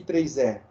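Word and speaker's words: IEEE: que que significa esse i3e quem pode me dizer Alguém sabe me dizer o que significa i e e e a pronúncia correta é i3e E aí que que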